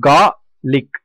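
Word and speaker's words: garlic: கார்லிக் அந்த ஆர் சவுண்டை நம்ம வந்து உச்சரிக்க கூடாது. ஸோ கார்லிக், கார்லிக்.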